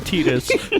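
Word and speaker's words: Tidus: when I call him Titas because the promotional it's video that came with my final fantasy Spirits Within soundtrack said tedious I know look he's the the official pronunciation on that is tedious for some reason and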